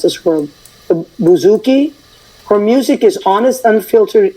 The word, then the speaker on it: bouzouki: is it what does it mean no you pronounced it great um it's a Bouzouki and it's a type of uh mandolin like